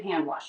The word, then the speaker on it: hand wash: This is a case where you can drop the D. It's not uncommon to drop the D between two other consonants. And I think it sounds just fine to say hand wash, hand wash.